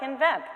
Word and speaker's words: nVent: Just like invent, right? Without saying the I.